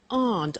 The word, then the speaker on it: aren't: they aren't cheap so the difficult here is the pronunciation of AR not which is Aunt okay a good so